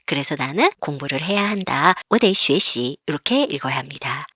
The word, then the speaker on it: 得: 내일 시험이 있어서 나는, 자, 여기 어딜 득자는 네라고 읽어야 합니다.